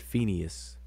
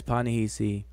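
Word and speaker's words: Panehesy: I said Phineas, because I believe that's the Greek way of pronouncing and spelling the name out. But Panahisi. And it says, Panahisi was an Egyptian noble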